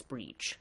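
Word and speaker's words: Bríd: But because normally when people say spell it that way, they spell it Brid. That's breach. Okay, with the even though all the letters after it are usually silent in Irish.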